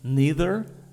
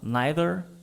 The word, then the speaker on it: neither: vamos repetir a pronúncia neither either eu falo assim mas Tem gente que fala neither either não tem certo e errado português não tem gente